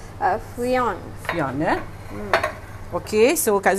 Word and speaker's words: friand: Alright, ejaan dia adalah F-R-I-A-N-D. Dengan sebutan Frion.